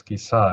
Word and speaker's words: Kisā: It lengthens the vowel R. It's called vowel R, like in German, R, okay? And pronounced as Kisa. It's feminine. Kisa is feminine. If male, it is Kisa, short.